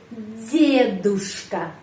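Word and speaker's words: дедушка: di sini De terus ada huruf y huruf y melas melemaskan pengucapannya huruf d jadi D menjadi D deduska deduska grandfather DKA to Tour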